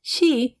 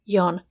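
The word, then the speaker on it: 四: Fun fact, the pronunciation she is the same as the Japanese word for death. To avoid saying she, people will often use the alternative pronunciation yon when counting or referring to the number four, especially in formal or sensitive situations like hospital room numbers or gift quantities.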